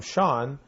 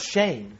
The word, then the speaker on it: Shane: I have one more, and this is from Sean, who lives in Chicago, Illinois, the Windy City. Did you spell it Scene? I'm sorry, it's Shane. Oh. Not Sean.